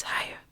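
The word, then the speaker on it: Haigha: His name is higher. He pronounced it so as to rhyme with mayor.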